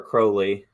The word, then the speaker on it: Crowley: you have you know crowley uh or crowley is the proper english pronunciation uh when you have